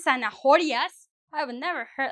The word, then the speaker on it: zanahoria: I think for most people it's quite simple to know that the H is not pronounced. So it's zanahoria.